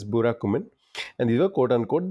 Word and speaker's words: Burakumin: So I hope that's how at least I'm trying to spell it out. It's Burakumin.